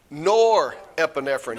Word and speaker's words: norepinephrine: Norepinephrine. Y'all were both so right there. Norepinephrine. Because I don't know. It was you had the lyrical part right, the number of syllables.